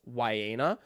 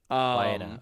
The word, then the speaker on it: Wayna: Their mid laner's name is pronounced Wayna. Wayna, okay.